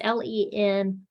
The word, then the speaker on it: Lenius: Linus or Linus. It's Lenius.